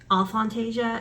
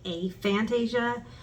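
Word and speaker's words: aphantasia: beginning of this channel I was saying um all Fantasia and then I learned that um the scientists are more pronouncing it a Fantasia instead of off eighth of Fantasia a Fantasia um so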